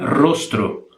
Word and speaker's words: rostro: Ou rosto, em português, aqui se escreve assim, e se pronuncia rostro.